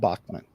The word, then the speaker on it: Bachman: see now Jim I thought it was Rob Bachman that was the drummer Bachman Bachman however you want to pronounce it he pronounces it both ways himself